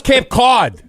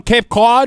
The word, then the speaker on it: Cape Cod: Are you out in Cape Cod right now, or where are we at? Yeah, you got to learn how to pronounce that. It's not Cape Cod. It's Cape Cod.